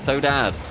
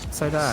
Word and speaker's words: Saudade: Dad they told us they told us how to say it it's so Dad all right so Dad so Dad yeah not